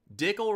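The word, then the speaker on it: Dickel: is why i lose dickle rhymes with pickle and they both taste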